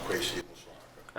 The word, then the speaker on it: Kwesi Amusuah Ackah: it's pronounced Kwesi Amusuah Ackah.